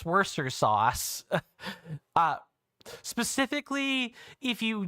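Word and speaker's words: Worcester: Anyway, if you want to show respect to the people that live in Worester, you say it is Worester sauce. It's It's even It's much easier to say, too. You drop off a whole five letters, a whole syllable. Um, so it's not that people have necessarily been saying it wrong, but they have been making it harder on themselves to like do that. They've they've been making it harder on themselves than they have to.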